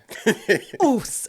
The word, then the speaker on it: OSU: OSU.